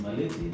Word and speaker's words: Maliti: Marilyn is a local, so yes, pronounce the name very well. Yeah, so my name is Engineer Francis Maliti, the Deputy Governor of MAchakos County.